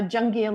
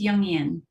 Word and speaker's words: Jungian: a the founder of Invision feminine leadership a jungi and life coach did I pronounce that right it's yungan see I should have asked you first oh